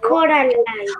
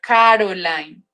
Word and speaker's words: Coraline: Pero se dice Coraline. Homework. Profe, Coraline es de una película. No, pero es que yo no digo Coraline, yo digo Caroline.